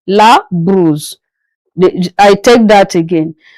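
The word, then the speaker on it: brosse: The O after the B is pronounced as U not O as you are seeing it on the board. La bruise.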